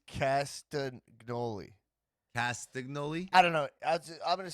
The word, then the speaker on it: Castagnoli: castigliano i'm gonna go i'm gonna go claudio castignoli claudio castagnoli it's claudio castagnola no love no lee the announcers were messing